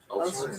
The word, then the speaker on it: Ulster: It's across the parts of How do you pronounce it? Ulster? Ulster, yeah.